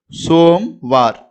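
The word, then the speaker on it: सोमवार: மே மே இது சோ சோ, இது ம மேல ஒரு புள்ளி பிந்து வைக்கிறோம். சோம். இது வா ர மேல வந்து ஒரு புள்ளி பிந்து வைக்கிறோம். அப்ப சோம்வார் சோம்வார் அப்படின்னு உச்சரிக்கிறோம், படிக்கணும். இங்க கோ கோ ஆ ர ஹா ஹா ரஹா ஹோ ஹோ நெடில சொல்லணும்.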